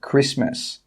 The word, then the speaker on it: Christmas: The letter T is not pronounced in many words such as castle and Christmas.